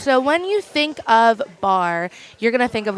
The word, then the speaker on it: barre: that yeah um so I always call it Barry or a bit about Barry I didn't know how to say it's bar I know we get that a lot but it's bar my son's name is